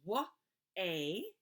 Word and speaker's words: way: So this one is wa-a, but you can't hear the A and the Y traditionally, right?